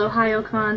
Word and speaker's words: Ohayocon: wo um and yeah it's called Ohio con spelled like you know the word Ohio good morning in Japanese not like Ohio the state but um you know